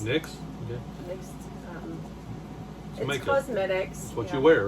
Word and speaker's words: Nyx: is in why nyx it's pronounced nicks nyx cosmetics that's what you